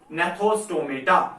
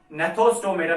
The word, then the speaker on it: gnathostomata: और बेटे जो दूसरा ग्रुप है इनको हम बोलते हैं, एक को है एग्नेथा और बेटे दूसरा है GNATHOSTOMATA, नेथोस्टोमेटा। क्या है बेटे? नेथोस्टोमेटा।